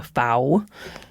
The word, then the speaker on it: FAO: So the Food and Agriculture Organization, the FAO, I pronounce it the way that they pronounce it in Italy because the headquarters are in Rome. FA rhymes with cow.